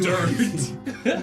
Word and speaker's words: Durt: It's spelled D-U-R-T. Dirt. Dirt.